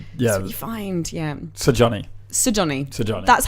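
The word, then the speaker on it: Sigurjón: Sir Johnny. Sir Johnny. That's how I found that it is pronounced. Is you pronounce all the letters.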